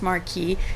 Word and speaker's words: Marquis: So I'm gonna say just Marquis in French because it sounds better. So Wilde finds a card from Douglas's father, the Marquis of Queensberry, accusing him of posing as a sodomite.